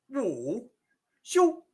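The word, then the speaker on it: 武术: And if you combine that with this character, you get woo, shoo, woo, shoo, which literally means martial arts.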